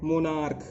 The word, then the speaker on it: monarch: For example मोनार्क, MONARCH, इसके last दो letter हैं CH। ये CH जो हैं वो का उच्चारण दे रहे हैं, तो इसका प्लूरल बनाने